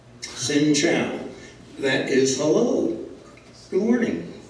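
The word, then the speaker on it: xin chào: the language now sinow X indn Ames is pronounced like an S commit a sin Chow is like what the Navy people eat sin Chow that is hello good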